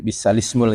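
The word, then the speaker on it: بئس الاسم: Jadi bi'sal ismul ya. Iya. Ya. Tapi lamnya jangan didobel. Kadang bacanya masih ada yang salah, lam didobel. Bi'salismu tidak. Tapi langsung tanpa lam. Iya. Ya. Tanpa lam sukun, langsung.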